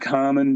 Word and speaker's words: Kahmann: Uh, our name is called is pronounced common, but it's spelled with a K.